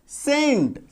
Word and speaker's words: cent: था EIY है ना, तो सी के बाद क्या है ई, तो इसका उच्चारण क्या हो गया सेंट, CENT सेंट।